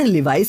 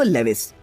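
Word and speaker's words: Levi's: जी हाँ, जैसे कि अधिकतर लोग नाइकी को नाइक कहते हैं और लिवाइस को लेविस।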